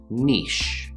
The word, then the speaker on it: niche: either niche niche so we have an n sound followed by the long e in words like p or me and then simply the s h sh sound niche niche and then the second pronunciation would also start with the n of course then we have the short i sound e and the ch sound literally the word itch i have an itch